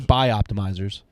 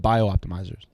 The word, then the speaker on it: Bioptimizers: It's actually buy optimizers. I apologize. I was told we've been saying it wrong this whole time. Did you listen to what I just said? You said bio optimizers.